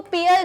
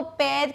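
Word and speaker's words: pair: Next, पैर और पैर, इसको पेयर नहीं कहते, इसको पैर कहते हैं।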